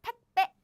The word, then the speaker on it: 택배: Air blocking sound. So what happens is 택, and the next sounds become super strong like this. 택배. No, 택배 아니에요. 택배. No. It's 택배. Strong.